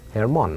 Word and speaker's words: hermana: Hermana. Hermana. You don't pronounce the H.